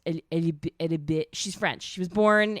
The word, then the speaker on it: Alibert: It's spelled Alibert, but it's pronounced Alibert.